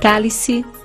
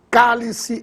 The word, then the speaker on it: cálice: lâmpada linguística protótipo súbito se dividirmos a palavra cálice em sílabas perceberemos que se trata de uma palavra proparoxítona pois a sílaba tônica está na anti penúltima k por isso recebe assento gráfico o mesmo acontecerá com